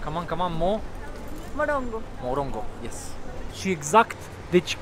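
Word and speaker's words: morango: Morongo.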